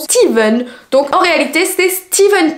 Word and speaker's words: Stephen: me reprendre en anglais il me semble que le Stephen se prononce Steven donc en réalité c'est